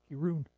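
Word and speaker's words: Kirin: Yeah, if it's Japanese, it would be pronounced Kirun.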